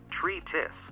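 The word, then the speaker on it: treatise: The word is stated, tree-tis, with the accentuation on the tree.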